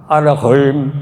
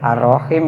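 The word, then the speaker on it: الرحيم: Dibaca arahim artinya arahim maha lembut suaranya. Dengan nama Allah yang maha lembut suaranya kalau salah arrahman arrahim. Mestinya kan Arrahman Arrahim yang maha pengasih maha penyayang. Salah ngucap arahim.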